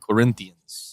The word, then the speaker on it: Corinthians: this is so crazy it's Corinthians by the way all let's give them the respect they deserve for pronouncing in a way you would have never expected shouts to the Portuguese my main obviously the